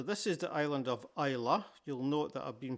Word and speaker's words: Islay: So this is the island of Isa. You'll note that I've been pronouncing it that way throughout with a silent Y. It's not I good grief. It's definitely not Isl.